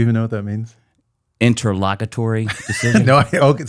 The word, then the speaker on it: interlocutory: Interlocutory decision. No, okay. So if you just say it again, it's interlocutory. The emphasis on the first part, interlocutory.